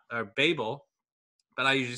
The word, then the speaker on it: Babel: I learned in researching this that it's more correctly pronounced Babel, but I usually say Babel.